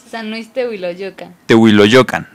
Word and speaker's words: San Luis Tehuiloyocan: de Luis te San Luis San Luis Puedes pronunciarlo San Luis teoa lo yocan vientos que está ubicado en dónde se encuentra